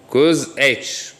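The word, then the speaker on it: cosh: This, note how it is pronounced, cosine alpha, or in some universities it is cos h. Cos h is cosine hyperbolic. The h corresponds to the word hyperbolic. Okay, and we have sine alpha.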